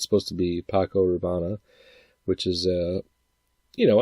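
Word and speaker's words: Paco Rabanne: by name even though it's he he purposely mispronounces it, but it's supposed to be Paco Raana, which is uh, you know, a high-end cologne. And he calls it Paco Raveni.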